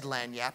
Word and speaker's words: lagniappe: we never neglect the lanap now I didn't even know how to pronounce the word and he said lanap and I remember thinking